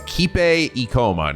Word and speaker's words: Kipe Ikoma: It's Kipe Ikoma, not Ikipe.